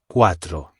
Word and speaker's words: cuatro: Four is quatro. spelled c u a t r o and pronounced quadril.